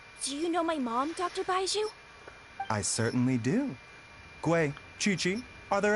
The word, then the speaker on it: Baizhu: snake oh are you Uncle baiju that's how you say his name and goodbye to you